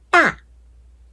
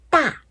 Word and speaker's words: 大: 然后四声我们看一下，汉语里面的发音呢是大大，那大家就可以想象成韩语里面的大大，怎么样？